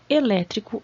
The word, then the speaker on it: elétrico: uma qualidade ao aparelho é um adjetivo e é proparoxítona e tem acento como todas as proparoxítonas tem acento tá energia qual seria